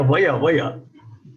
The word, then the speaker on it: वय: Yeah, vaya.